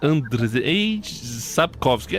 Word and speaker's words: Andrzej Sapkowski: Eu tentei até procurar, mas é Andrzej Sapkowski, acho que é isso. Não, é Sapkowski, Andrzej Sapkowski, é André.